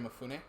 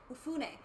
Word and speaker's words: Mifune: And then I'm sorry, is it Momofuke? How do you say his name? The character? I forget the character's name. No, the actor. Oh, Toshiro Mifune? Mifune.